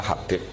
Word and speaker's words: Habib: Itu ada yang nulis Hubab. Yang benar, oh enggak, yang benar itu bacanya Habib.